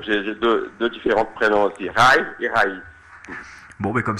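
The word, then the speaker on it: Raí: En portugais, c'est Rai. Rai. Il faut mettre la tonique sur le i. Rai.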